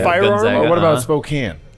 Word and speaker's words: Spokane: So I can't pronounce it either way. I'm a Gonzaga guy, like Gonzaga. firearm. Gonzaga, or what about Spokane? Spokane.